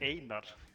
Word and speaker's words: Einar: My name is actually Einar.